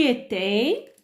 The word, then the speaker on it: étais: Tu étais, le S à la fin ne se prononce pas.